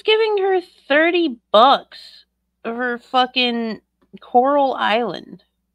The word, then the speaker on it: Coral Island: But of course, in Shani fashion, she mispronounced it to Corral Island. How did she get the money for it? Hold on, let me look it up. Coral Island.